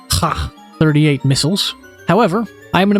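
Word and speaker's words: Kh-38: I am aware that in Russian, KH is actually pronounced ha as in ha 38.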